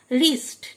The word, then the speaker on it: wrist: রিস্ট, WRIST রিস্ট, W silent, রিস্ট মানে কবজি। Wrinkle, WRINKLE wrinkle মানে কোঁচকানো চামড়া, প্রথম ডাব্লিউটি অনুচ্চারিত।